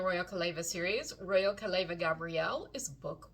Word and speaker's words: Gabriel: He doesn't pronounce it Gabrielle, I'm sure, because I use the Spanish pronunciation.